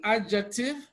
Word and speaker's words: adjective: the wrong answers so D is silent in adjective but here in double